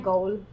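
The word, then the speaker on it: Gaul: और जैसे भी प्रोनाउंसिएशन है गॉल, गॉल, okay गॉल pronunciation, और उसके एक प्रोविंस का नाम है गॉल।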